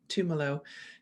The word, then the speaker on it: Tumelo: ceo and co-founder of tumelo i think i've got that pronunciation correct i think of it as a bit like pomelo tumelo which is a really